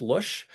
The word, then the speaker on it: Luszcz: So, uh, my name is Lush. Lots of Z's there. It's pronounced Lush.